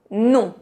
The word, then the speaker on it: non: Para a palavra non, as letras O, N é um som bem nasal.